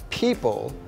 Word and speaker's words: people: ด้วย การ หัด เขียน ค่ะ the tricky word People is spelled PE e o p l e But